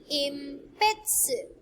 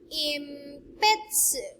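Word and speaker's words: えんぴつ: Next, impetsu, impetsu.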